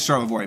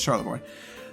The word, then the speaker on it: Charlevoix: And that is Charlevoix, by the way. I know you French people are having a heart attack with me saying that, but too bad. That's how we pronounce it in Detroit. It's Charlevoix.